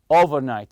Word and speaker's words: overnight: it comes the overnight you say overnight stress the first part the over part and the conversation that